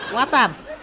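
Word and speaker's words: water: ওয়াটার না, এটা ওয়াটার। ওয়াটার। জি স্যার। জিহ্বার আগে সামনের দুই দাঁতের সাথে লাগবে।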